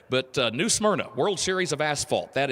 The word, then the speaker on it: New Smyrna: stock car racing World always pronounce it as New Smyrna they kind of throw an extra syllable in there but New Smyrna World Series of asphalt